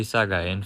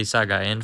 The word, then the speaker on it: Sagaing: I think that it is pronounced this as the Sagaing fault.